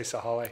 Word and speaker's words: Sahale: Do you think you pronounce the E, or is it Sahale? I think you say Sahale.